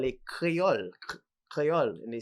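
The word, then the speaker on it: kreyol: is because in martinique they call it creole crayol and they spell it k-r-e-y-o-l right in antigua they might call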